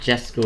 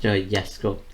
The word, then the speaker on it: Jesko: So it's not Jesko, it's pronounced Jesko. So it's kind of just replace. It's very simple. Just place you're just getting rid of the J and pronounce it with a Y instead.